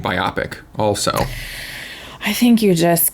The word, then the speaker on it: biopic: and I I got in trouble for saying biopic also I think you just got to just commit you know you're going to say things different than other people I say Nevada I say biopic and I call small moving pictures gifs it's